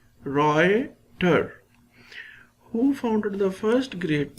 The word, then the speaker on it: Reuter: deals with the Reuter their pronunciation of this is given here Roy tur who founded the first